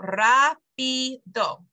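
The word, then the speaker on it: rápido: emphasis vamos okay but if you ever break that rule for example Rapido there's three syllables there it should be here but instead it's here so that's why you need the accent so the accent tells you where to put the emphasis basically is is why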